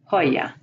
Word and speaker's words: joya: The J is pronounced like the H in hat. Jabón, joya.